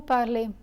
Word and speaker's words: parlez: law and vous parlez in French the final consonant is usually silent so similar to the silent s in triple BS in new part law is not pronounced as for the easy ending this letter combination is always pronounced as a so if you remember